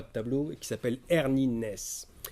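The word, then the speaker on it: Arne Næss: tableau et qui s'appelle hernie naissent alors les norvégiens ont appris comment ça se prononce donc là je suis je pas peu fiers de proposer comme sa hernie nes mais ça s'écrit arn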